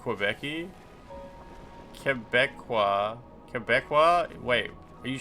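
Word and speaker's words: Québécois: Quebecqua is the pronunciation of Quebeci.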